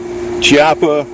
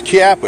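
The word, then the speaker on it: Chiappa: you know they got army army sport Italian japa chap has been sold out where it's kappa actually CH an italian is spelt is actually pronounced k it's kappa kappa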